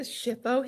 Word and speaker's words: SHPO: day and then there's our mascot the shippo hippo just to help you remember how how to pronounce shipo Missouri is under the